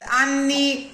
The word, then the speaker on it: anni: Anni must rhyme with vanni.